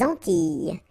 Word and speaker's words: Antilles: So here it's quite interesting because, well, you've got this E and then double L, S. Okay? So final S and really you don't pronounce them. So you get this E sound.